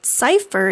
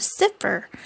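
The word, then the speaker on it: sifr: of zero yet they also mispronounced it calling it Cipher instead of cifer this confusion led to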